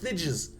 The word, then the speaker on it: Thijs: it just gets it gets big know it's pronounced thides this is the thides r t um so